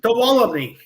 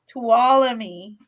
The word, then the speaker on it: Tuolumne: Tuolumne. Tuolumne. So the N is silent?